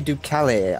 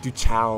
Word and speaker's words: Ducale: Familia Ducale, I believe Ducale? it is. I think that's Ducale, right. Yeah. I always call them like Duchao or something. Ducale, yeah.